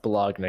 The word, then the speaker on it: Bologna: You're the Baloney Squad, right? The Bologna squad. Oh, sorry, Bologna. Yeah, it's pronounced Bologna. Excuse me. Sorry. It's very important actually. That's pronounced Bologna.